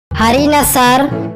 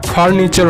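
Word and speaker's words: furniture: হারিনা স্যার। একদম ঠিক, তবে উচ্চারণটা হারিনাসার হবে না, ফার্নিচার হবে।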